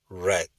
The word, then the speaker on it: read: viene el verbo read Acuérdese que en presente se pronuncia el ruido y en pasado o participio red como el color rojo red Ok y una vez